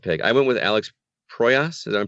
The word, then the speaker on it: Proyas: I went with Alex Proyas. Is I'm pronouncing that correctly?